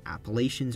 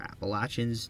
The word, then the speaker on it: Appalachians: to a spot in the Appalachians or Appalachians, the pronunciation really depends on where you live, where the border with North Carolina changes to a border with Tennessee.